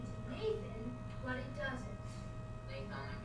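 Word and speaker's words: gnathonic: Nathonic has a silent G at the beginning and it means harmony or flattering.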